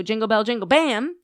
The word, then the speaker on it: Jingle Bell Jingle Bam: And he goes to Jingle Bell Jingle Bam. Yeah. Just like that. And I was like, so oh my God, that is how you say it.